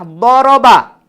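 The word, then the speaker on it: ضَرَبَ: Contohnya kalimah daraba terjemahannya dia telah pukul. Tiba-tiba kita jumpa sebutannya duriba. Ejaan yang sama, sebutan yang berbeza.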